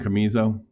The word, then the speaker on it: Casemiro: Camizo? One of the few guys I play. Casemiro. Casamizo.